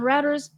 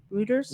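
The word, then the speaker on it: Reuters: in a statement on routers did I say it right I never say it rooters rers I don't know why they spell it that way it's French it looks like routers to me I know for the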